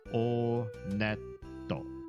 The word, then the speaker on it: Onet: It is pronounced Onet. I did check the Japanese pronunciation. And in Japanese, when you go to this first town, they pronounce it Onetto.